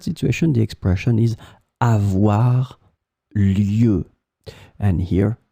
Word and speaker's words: lieue: In this lesson, we will see together two words that are written differently but pronounced the same way. Lieu, lieu.